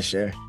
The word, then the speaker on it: Cher: name rhymes with her her name rhymes with hair she's an icon but yeah how you set me up like this share share share it's sure